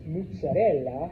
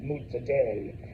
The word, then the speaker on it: mozzarella: It's it's it's mozzarella if you're in Italy and it's mutz day, uh, if you're from around here, uh, type of thing.